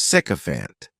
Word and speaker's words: sycophant: the next noun is sycophant this word has three syllables and the stress is on the first syllable cofant the spelling May